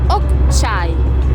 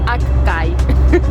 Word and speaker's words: Okçay: Ahora sí, ya estamos en ruta al destino donde vamos a pasar unos días, que se llama Okçay. Pronunciado en turco, en español sería Akkay.